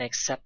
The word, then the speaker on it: accept: that accept that so the T sound at the end of accept it is not pronounced so it is dropped or omitted so we can say